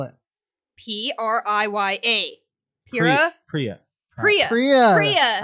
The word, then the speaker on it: Priya: Kira.